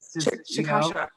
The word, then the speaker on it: Cachaça: Cachaça. I have a hard time with that. Yeah, but well, it's so like their language, like Portuguese. Cachaça.